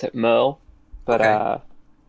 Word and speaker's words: Merle: I personally pronounce it Merle, but Okay. like Merle. I mean I have gone by Merrill before, so like that also makes sense.